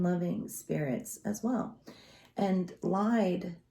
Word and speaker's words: Lyde: So, and some people, try to pronounce her name in the English term, which is Lade, but in the American terms, I don't feel like calling a beautiful woman that's deceased Lade, because we know she ain't getting laid.